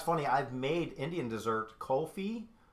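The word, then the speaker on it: kulfi: I've made Indian dessert kofi I think I'm saying it right it's like K you LF I believe I've made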